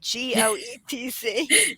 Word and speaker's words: Goetz: And Goetz is spelt that funny way, Goetz. Don't say the O.